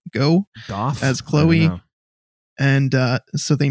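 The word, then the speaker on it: Gough: Goff as Chloe.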